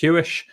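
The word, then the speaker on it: Huish: It's pronounced Hewish. It's like Jewish with a H spelt differently.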